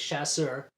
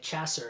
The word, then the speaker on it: Chasseur: the in the movie the last name was chasseur but they kept pronouncing it chasser and they had to keep correcting them and in the uh